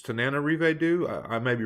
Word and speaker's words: Tananarive Due: It's Tananarive Due. I may be wrong with the pronunciation, but there's an extra na in there that I normally want to give it. So Tananarive Due, right?